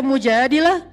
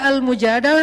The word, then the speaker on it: Al-Mujadalah: Jadi tergantung kita bacanya dilah atau dalah. Kalau kita baca mujadilah, berarti perempuan yang lagi curhat. Kalau kita baca Al-Mujadalah, berarti curhat itu sendiri.